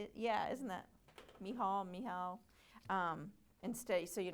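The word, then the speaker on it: Michal: So, Mihal, yeah, isn't that Mihal?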